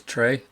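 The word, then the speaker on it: Tres: Um, his wide receiver that I just love is Trey, and that's spelled T R E S.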